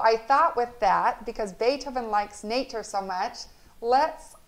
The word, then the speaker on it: Beethoven: written by anne recklin notice how beethoven is spelled before we begin b e b-e-e-t-h-o-v-e-n but we say beethoven it was unusually quiet